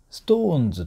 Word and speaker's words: SixTONES: かというとストーンズっていうね発音があるでしょジャニーズのグループストーンズですよ SixTONES とかですストーンズという